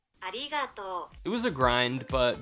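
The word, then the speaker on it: ありがとう: sound I've never used it's sort of between an r and an l and is more like arato arato it was a grind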